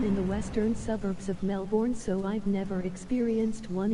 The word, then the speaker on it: Melbourne: To be fair, when you say Ozzy Osbourne, how do you pronounce his name? There you go, LOL. If you want, I could go full bogan. Full-blown bogan. Explodo! Damn you. You managed to capture it. I wanted to kill it. I pronounce it how you said his name, haha.